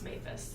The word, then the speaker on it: Maphis: I finally just told him one day, listen, it's Maphis. Like, you're saying it wrong.